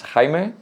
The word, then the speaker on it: Jaime: Yeah, it depends on where you are. If you are in Spain, it's Jaime. In Portugal, because I'm Portuguese, it's Jaime.